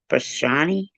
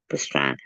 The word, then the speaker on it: Pastrana: His name sounds like pastrami. I don't think I say it right. Pastrani? Pastrana.